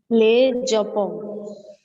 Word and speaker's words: Le Japon: Devishri, how will you pronounce this? Le Japon.